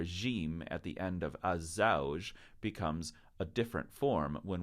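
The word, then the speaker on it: الزوج: Men hadha, this gentleman with the green circle around him, he's az-zawj, not al-zawj, but az-zawj, the husband.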